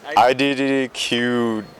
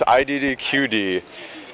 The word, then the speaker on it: IDDQD: I forgot how to pronounce his name, but It might be IDDQW. Is it QW? IDDD. It's IDDQD. Yeah, I always get that wrong.